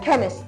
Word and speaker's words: chemist: write would be CH because here CH gives you the C when you're spelling chemist chemist chemist chemist a chemist just look at this CH gives you the C Sound all right let's move